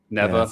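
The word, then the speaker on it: Nevè: Neve, is that the pH neutral? Neva. Yeah, okay, yeah, that's snow in Latin. Snow. That's the difference between the Italian pronunciation and the North Carolina pronunciation.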